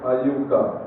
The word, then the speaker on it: IUCAA: I am particularly want to express my gratitude to the authority of the Inter-University Center for Astronomy and Astrophysics, as we pronounce IUCAA, Pune, for hosting and funding this NEMA-IX in our own university campus.